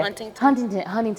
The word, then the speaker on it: Huntington: And I said it wrong. I said Hunting. Is it Huntington? Huntington. Yeah. Huntington. Yeah, like Huntington Beach.